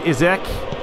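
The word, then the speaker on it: Isak: launches that out to izek that's how we're going to pronounce his name i've googled it and it's not isaac it's easy basically you've got a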